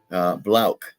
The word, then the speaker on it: Blauch: And also for Miss Dawn Blauch, Blauch. Let me correct myself. I constantly mispronounce names, and she's been so kind as to not like chastise me too hard about that.